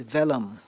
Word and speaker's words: vellum: All of her letters were written on delicate scented vellum. Okay, vellum. May I have the origin, please? French. Okay, vellum. Am I pronouncing it correctly?